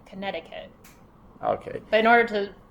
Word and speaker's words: Connecticut: some people pronounce it Connecticut uh the date is 1788 what is the correct pronunciation Connecticut Connecticut yeah so the middle C is silent Connecticut okay but in order